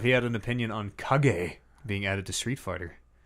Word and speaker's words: Kage: You might also pronounce it Cage. No. Kage. Where's the camera? It's Kage.